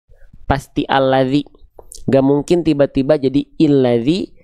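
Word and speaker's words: الَّذِي: Maka dibacanya alladzi, bukan ulladzi, bukan illadzi.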